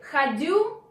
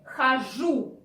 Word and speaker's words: хожу: So, instead of which would be logically to say ходю, absolutely incorrect. In Russian language, it is proper to say хожу.